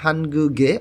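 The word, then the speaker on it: 한국의: এখানে গিউক বাচ্ছিমটা এইখানে এসে গুই উচ্চারণ না হয়ে গে উচ্চারণ হবে, অর্থাৎ উই বর্ণটা যদি কখনো কোনো শব্দের সাথে পার্টিকেল রূপে শব্দের শেষে বসে তখন সেটা উই উচ্চারণ না হয়ে এ উচ্চারণ হবে। এটা একটা পড়ার একটা নিয়ম। এখানে উচ্চারণ হবে হানগুগে অর্থাৎ কোরিয়ার, থোসি অর্থ শহর।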